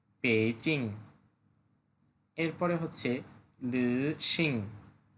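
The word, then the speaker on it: 北京: উচ্চারণটা হবে পেইচিং।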